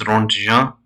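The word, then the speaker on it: Röntgen: This is pronounced Ronja, and Ronja was the person who actually discovered uh, X-rays.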